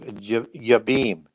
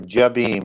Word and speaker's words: Jabin: by the name of Jabim or Jabim as you would pronounce it in English because it's J A B I N but in Hebrew it's it's a Y and he was ruling